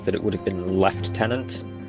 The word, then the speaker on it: lieutenant: as you go look a lot of media will just use lieutenant but the official army terminology would have been left tenant despite it being spelled the same that's Americans for you that's the only Yeah.